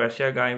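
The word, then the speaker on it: שֵׁם: Ó, o shin, que é o SH em vermelho, o sere, os dois pontinhos, a vogal E e o mem final, letra M. Lembra aqui, ó, quadrado, né? Os cantos aqui. Essa é a letra mem final, né? A M em sua forma final. E não é o samê, que o samê é todo arredondado. Então, shem.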